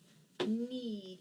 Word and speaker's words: knead: that EA a lot the EA most often makes that long e sound so it'll say need it'll say e you